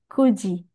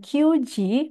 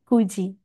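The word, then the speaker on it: 九時: Jam 9 hati-hati Kuji. Jadi bukan Kyuji, melainkan Kuji.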